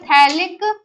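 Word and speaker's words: phthalic: इसको बोलते हैं थैलिक। थैलिक में पी साइलेंट होता है एनहाइड्राइड।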